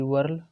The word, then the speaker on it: whorl: Spelling WHORLED, वर्ल, वर्ल बोलते हैं।